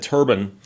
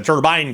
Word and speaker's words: turbine: And so I went and found the video that I put up years ago where I explained how turban has two pronunciations. Both are considered correct.